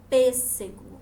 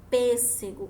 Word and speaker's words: pêssego: um som mais fechado quando eu pronunciou a palavra pêssego olha só pêssego como vocês podem observar p ele tem um som mais fechado então nós usamos o